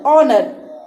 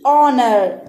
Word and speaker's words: honor: Okay, here the word will start with honor. Okay, O is a vowel. O is honor, honorable, honest. Okay, honor. So here we will keep the H silent and we will use the word O while pronouncing.